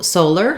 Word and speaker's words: solar: solar and Scholar so solar having to do with the sun has the first syllable stress and letter O says